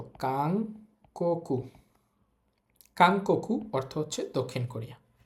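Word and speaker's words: 韓国: থাকলে ন অং হয় এখানে ন অং হবে তো কাকু কাংকু অর্থ হচ্ছে দক্ষিণ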